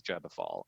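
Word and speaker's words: Gebofal: this ritual called uh gabba fall am i saying that right am i saying yeah well i i take the pronunciation from aaron leech which is jeba fall and he if she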